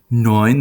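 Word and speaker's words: neun: ah-ah-ah then guns 9 knowing the diphthong here is EU like in Deutsch and oil all knowing knowing then comes Same Same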